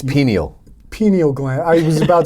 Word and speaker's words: pineal: No, I've been reading a lot about your pineal gland, I believe is how. It's pineal.